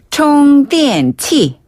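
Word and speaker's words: 充电器: 총 電 치. 총 電. 여기다가 치. 그렇죠. 치는 기구할 때 기자예요. 기구, 기기. 네, 기기할 때 네. 기자기도 하고 그래서 충전기라는 글자를 그대로 중국식으로 발음하면 총 電 치. 총 電 치.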